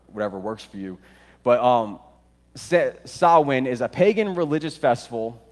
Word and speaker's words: Samhain: It looks like Samhain, but it's actually pronounced Samhain. Samhain.